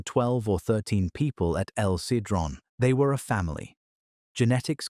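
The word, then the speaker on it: El Sidrón: Hardened plaque from El Cedron, pronounced El Cedrone in northern Spain, preserved DNA from pine nuts, moss, and mushrooms.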